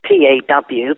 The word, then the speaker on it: Paw: Now, I say it differently because I'm from England. It sounds like I'm broke, which really I am, but I take care of dogs, so it's P-A-W, but I can't pronounce it any other way except paw, as in Pawkeeper.